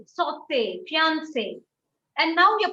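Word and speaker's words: sauté: a tool of pronunciation whenever you see an e with a song you have to pronounce it you give a a sound so it is not it is cafe it is saute it is not salt caspe fiance we don't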